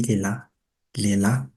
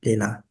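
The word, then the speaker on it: lehilahy: Mais parfois, quand on prononce rapidement, ça se dit Léla.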